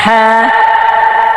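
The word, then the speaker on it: حاء: قاف قاف قاف হ্যাঁ حا হ্যাঁ হ্যাঁ হ্যাঁ। حا حا حا গলা চাপিয়ে হলকের মধ্যখান হইতে হ্যাঁ উচ্চারণ করতে হবে।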